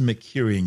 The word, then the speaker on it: Mercurian: of multiple planetary Landscapes these mercurian glaciers and yes that's how you say it distinct from Earths originate